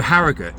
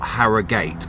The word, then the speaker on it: Harrogate: So, Harriut, not Harriate. I actually had to look that up. Do you pronounce it Harriut or Harriate? I assumed it was Haragut cuz that's what stuck in my head. But, you know, always like to look these things up. And I'm quite known for pronouncing things wrong all the time. So, I thought we better get this one right.